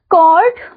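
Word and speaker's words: chord: करके पढ़ोगे ठीक है इसे कभी भी आप एच को इसमें आप एच को नहीं बोलोगे ठीक है एच जो है आपका साइलेंट है तो इसे आप हमेशा कॉड करके ही बोलोगे okay कॉर्ड इज a line segment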